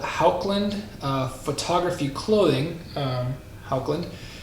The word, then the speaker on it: Haukland: uh photography clothing um haukland i believe that's how you pronounce it i believe it's a norwegian word so if my accent isn't quite right i do apologize but um that is you know how i think it's pronounced anyway i want to